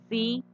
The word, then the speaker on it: bicicleta: Yo miro, pronuncio, bicicleta. Inmediatamente me doy cuenta que la mayor fuerza de voz está aquí, en esta sílaba, en cle.